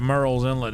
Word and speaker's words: Murrells Inlet: Yeah, it sounds like Murrells Inlet. It's spelled like murals.